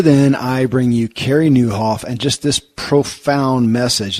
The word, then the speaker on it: Nieuwhof: a podcast, real popular podcast called the Carey Nieuwhof Leadership Podcast. Lead like never before. And his name is spelled Carey. And the last name, too, will take you a little, it's Nieuwhof.